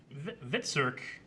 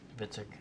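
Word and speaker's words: Hvitserk: Honestly, Vitsirk, is that how you say his name? Vitzik.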